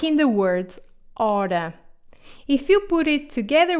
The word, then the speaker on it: hora: The H is silent sh in Portuguese, like in the word hora.